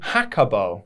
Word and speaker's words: Jacobo: When you pronounced it in English, it's actually supposed to be in Spanish. It's pronounced Bobo Jacobo. Jacobo. With more emphasis on the co.